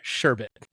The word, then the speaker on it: sherbet: is sorbet and sherbet there is no r at the end of that it's just sherbet I spell it right